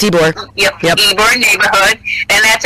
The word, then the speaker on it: Ybor: Yep, it's Ybor.